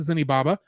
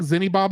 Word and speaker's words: Zeniba: With Haku unconscious, Sen resolves to return the seal and apologize to Zenibaba. Sorry, I keep saying Zenibaba. I think it's just Zeniba.